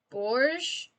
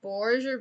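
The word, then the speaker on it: Bourges: if anyone would um i believe that's pronounced bourge like the town of borges or berge or something avaricon is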